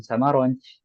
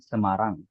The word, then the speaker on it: Semarang: Ya, antum kalau bilang saya dari Semarang, ya jangan bilang ana min Samaronj, tapi ana min Semarang.